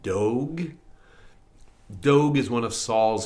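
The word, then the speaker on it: Doeg: Um the guy's name I it's spelled D O E G. How do you want to say that? Dog.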